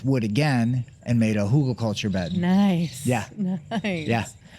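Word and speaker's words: Hügelkultur: Every time I have German students, they always like chuckle at my pronunciation of Hugo culture. They're like, it's not how there's an umlaut or something over it.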